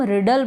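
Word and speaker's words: riddle: जो हम पहेलियां सॉल्व करते हैं उसको हम रिडल बोलते हैं आपको यह पता चल जाएगा अभी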